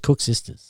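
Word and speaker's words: koeksisters: Oh, just Cook Sisters.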